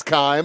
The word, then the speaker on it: Keim: It is Keim. At least that's how Donnie Lyons, the PA announcer, is pronouncing it.